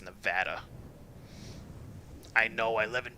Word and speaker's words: Nevada: They totally pronounced that wrong. That's so wrong. Yeah, totally. It's Nevada.